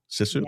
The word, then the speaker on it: sisu: So, um, when I was reading your bio, this word popped up called, uh, that that is sisu. Sissu, am I saying it right? Or saying it correctly? Yes.